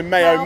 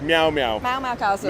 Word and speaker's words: Meow Castle: I normally say Mayo. It's Meow Castle.